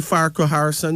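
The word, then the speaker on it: Farquharson: n o n okay everybody put it in syllables is Fai is far right yeah q u is cool right yeah h a r is her and so and the Sun so yeah it's really far Co Harrison you know yes so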